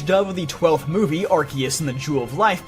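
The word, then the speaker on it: Arceus: made the last minute decision to change the pronunciation to Archus. So, don't worry, it wasn't the Mandela effect. It actually was called Arus initially.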